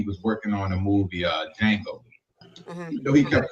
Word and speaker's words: Django: You know The D is what I'm silent. saying? But, Like the K in knife.